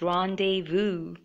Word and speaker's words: rendezvous: particular word rendezvous initial even I had a trouble pronouncing this but eventually I learned so its rendezvous and it means a meeting planned at a certain time in place so Z silent here and an example is